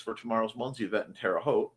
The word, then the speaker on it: Terre Haute: I need to charge my Fitbit and USB bricks for tomorrow's Munzie event in Terre Haute. Rhymes with vote.